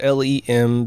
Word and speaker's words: LM: the lunar module or limb it's spelled lem but the acronyms LM and so they just start calling it LEM putting a vowel in there just like the Egyptians